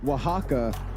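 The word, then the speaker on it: Oaxaca: they got this but Wajaka uh is the actual way to say it.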